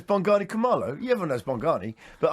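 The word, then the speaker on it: Bongani Khumalo: without looking come on i'm buggy commando no no it's bongani kamala you everyone knows mongani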